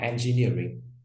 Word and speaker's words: engineering: Số 2 chúng ta có engineering. Engineering, nhấn vào near và nhấn vào near đúng nào?